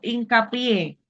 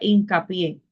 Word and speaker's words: hincapié: Por ejemplo, hincapié. ¿Por qué se acentúa en la última sílaba? La palabra hincapié.